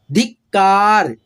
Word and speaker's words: धिक्कार: बंदूक, रफ्तार, संकल्प, संकल्प, धार्मिक, पब्लिक, बस्तियां, रहस्य, सदस्य, धिक्कार, धिक्कार। ये जो आधा क है ना, इसका अपने आप लोगों का साउंड जब निकलेगा ना तो बहुत मतलब फास्टली निकलेगा ये आधा क का,